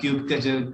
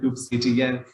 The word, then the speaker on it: kubectl: in the Kubernetes ecosystem there is so many ways you can pronounce the word, like kubectl, kubectl, kubectl, and like OPA and OPA are really the same thing, whatever you like to pronounce it.